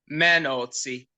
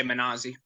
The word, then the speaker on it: Mannozzi: So the Italian pronunciation would be Mannozzi, but in the U.S. or the Anglified version, we just say Mannozzi.